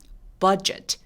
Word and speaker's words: budget: 자, 버짓 아니고 입술이 내밀어줘야 되니까요. budget.